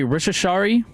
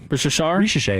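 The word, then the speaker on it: Risacher: So for the Hawks, and I know you're doing this on purpose because I have trouble pronouncing his name, Zachary Rishashari? Ricochet, that was Ricochet.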